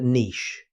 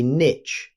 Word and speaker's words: niche: Now, let's look at niche. Many learners say niche, but today the pronunciation you'll hear most often is niche.